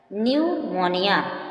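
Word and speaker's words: pneumonia: तो साइलेंट रहेगा और एन तथा एस से पूर्व पी आता है तो पी साइलेंट रहता है न्यूमोनिया न्यूमोनिया एक बीमारी होती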